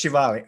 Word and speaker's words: Shivali: So it's Shivali.